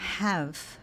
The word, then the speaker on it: have: Have, have. Muito cuidado, esse i no final do verbo have, ele não é pronunciado.